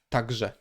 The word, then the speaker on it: także: Okay, so we look one step before. Okay, so it is a softer consonant, but we know we have ż after, therefore we have to pronounce it also harder. So it's także, także, także.